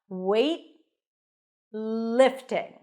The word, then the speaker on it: weightlifting: day and a t but when the T appears at the end of a word or before another consonant it's a hty that means you bring the tongue up and you wait and then you release it to the next sound in the in this case the L weight lifting so transition from the T to the L directly weightlifting weightlifting weightlifting I'm